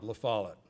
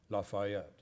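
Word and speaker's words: La Follette: get started with u none other than Bob lafalot or as some people would mispronounce the name lafayet those are people from Illinois I guess anyhow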